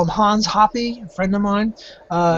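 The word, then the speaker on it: Hoppe: Another one that's hard is uh I call him Hans Hoppy, a friend of mine. Uh he calls themselves Huppet, but I can't say it, so I call it Hoppy.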